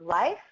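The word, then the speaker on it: Lyfe: really exciting instant like ly fe E is pronounced life you can go to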